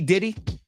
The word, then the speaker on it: Diddy: worked under him anyway if you know how to say his name P Diddy then you know how to say did he as we would when